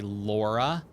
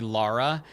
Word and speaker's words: Lara: me I'm the Gingerbread Lara it's so funny that a lot of people will still say Laura when it's clearly Lara and you hear people